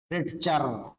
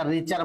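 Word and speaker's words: Richter: ये जो हमने लॉ of multiple prop sorry reciprocal proportion इनके साइंटिस्ट हैं आपके रिचर रिटचर। तो इसमें टी साइलेंट है बेटा रिचर बोलते हैं। रिचर टी साइलेंट रखना है।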